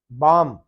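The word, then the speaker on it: balm: तो आप देखेंगे यहाँ पे ये लफ्ज है, ये बाम है, बाम, इसमें एल साइलेंट है।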